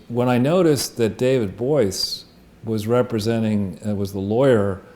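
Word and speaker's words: Boies: this interview, is when I noticed that David Boyce was representing, was the lawyer.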